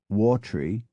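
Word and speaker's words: Wavertree: w s h o l m e is pronounced Bru w a v r t r e e becomes watery l u d g v n is Lon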